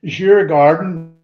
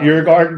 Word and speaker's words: Djurgården: Let me pronounce this right. Djurgården. Oh, that team. Not Djurgården.